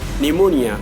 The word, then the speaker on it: pneumonia: Coup, cupboard, pneumonia, pseudo, psychiatrist, psychic, psychology, psychotherapy, psychotic, and raspberry.